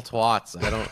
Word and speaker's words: twat: It's got a hard A. It's not an O.